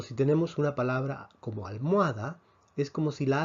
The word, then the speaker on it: almohada: la h dijimos que la h en español no se pronuncia la h en español es muda por lo tanto si tenemos una palabra como almohada es como si la